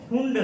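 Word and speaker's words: Pfund: हाँ, P silent होता है, उसको फुंड श्रेणी कहते हैं।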